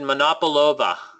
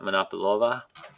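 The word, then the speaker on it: Monopolowa: a vodka you recommended monop overa it's uh here I I'll write it m o n o p o monopo and the W's in Polish are pronounced as a v not monova and uh actually was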